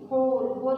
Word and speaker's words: whole: Number 3 WHOLE, होल में से होता है सारा, इसमें W साइलेंट है।